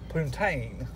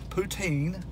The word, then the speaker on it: poutine: and what i have here that's called uh puntain sorry i misspelled or pronounced it poutine and what it is is french fries with